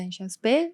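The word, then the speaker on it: Inchauspé: Creo que así se pronuncia Enchauspé.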